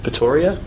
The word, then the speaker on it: Pretoria: Hung out with Veronique Palmer for a bit, and then headed up to Pretoria.